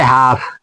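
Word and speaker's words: half: जैसे ये है हाफ तो एफ के पहले एल आ गया तो इसीलिए एल को नहीं पढ़ेंगे।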